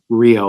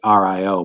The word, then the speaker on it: REO: Uh, but that's the only difference is that the truck company is pronounced like Rio, like Rio, but it's spelled REO and it's after Ransom Elds initials.